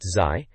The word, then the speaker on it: ZY: The article itself is by ZY, pronounced Zai, and it's about Shigeru Miyamoto, revealing more about Zelda 64 just a month and a half before the Shoshinkai show.